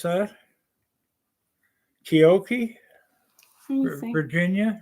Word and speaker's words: Keokee: Is that how you pronounce that? Keokee? Keokee.